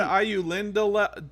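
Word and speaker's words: Ainulindalë: All right, and then I was calling it the Ayu Lindale, Dolly, Ayu Lindale. I knew Lindale. See, I can't. I knew Lindale. It's 5 syllables.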